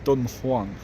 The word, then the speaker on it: Dunhuang: I think it's pronounced Dunang.